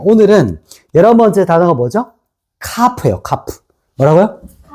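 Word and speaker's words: כַּף: 카프예요. 카프. 뭐라고요? 카프. 카프. 자, 카프는 이렇게 씁니다. 카프.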